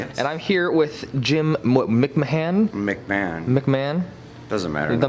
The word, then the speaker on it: McMahon: behind it like Jim Jim McMahon Mick Mahan his name is his last name is spelt weird Jim I am just